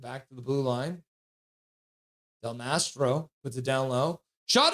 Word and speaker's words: Del Mastro: On the board, Chicago skates back to the blue line, puts it back for Del Maestro or oh crap! What I'm saying his name wrong. Del Mastro, and a shot to the front of that.